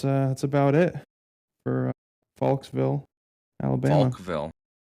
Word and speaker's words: Falkville: Faulksville Nope, Faulksville. Faulksville Faulk ville The S just wants to happen.